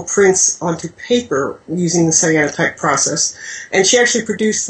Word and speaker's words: cyanotype: Yes, cyanotype.